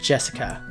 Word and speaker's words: Jessica: Anyway, it's pronounced Jessica.